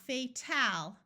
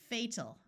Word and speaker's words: fatal: going to schwa so it's not going to be a clear Al sound it's going to be fatal again not fatal it's fatal final vital vocal Frugal